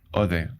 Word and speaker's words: Odeh: Quiero compartir esta conversación con Cómo se pronuncia tu apellido el apellido mur ode ode Ah porque I a decir ode ode